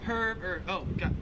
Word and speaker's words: herb: 37 is herb, herb. I just said it the Australian way. In American English, herb, you just don't pronounce the H at all.